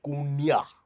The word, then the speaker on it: daCunha: It's pronounced Kunya.